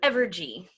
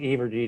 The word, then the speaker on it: Evergy: maria here i'm here is it averge or evergee how do you pronounce it i'm sorry it's um evergy thank you yeah yeah i i i i kept saying ebergy to me but now i